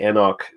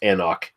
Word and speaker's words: anCnoc: It's just anCnoc. You basically just you just don't pronounce the C in the middle there.